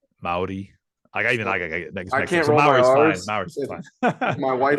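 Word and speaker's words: Māori: like most people say Maori um because that's how it looks but it's actually like it's got like a rolling R it's like a Maori Maori I can't remember my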